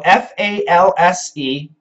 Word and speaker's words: false: hello hi Al so f a LS e false false false f a l LS falls falls falls so the S and the Z pronunciation are different good morning from New